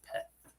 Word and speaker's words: Peth: Yeah, so the letter in P in Star Wars language is pronounced Peth.